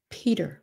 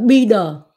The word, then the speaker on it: Peter: Nếu quý vị muốn phát âm cho đúng, phải là hơi thở. P. Peach. Paul. Peter. Chứ không phải là Peter.